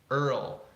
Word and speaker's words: Earl: Earl. That is not an easy word. Earl. It's also, just as difficult to pronounce the word girl. It's even the same word with a G in front of it.